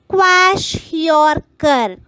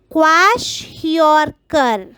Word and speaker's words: kwashiorkor: next deficiency disease is wash your car wash your car finally learn the pronunciation with spelling children this wash your car